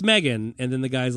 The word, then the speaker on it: M3GAN: release methan methan yeah I think it's pronounced they call her Megan but it's spelled M3 Gan yeah uh the uh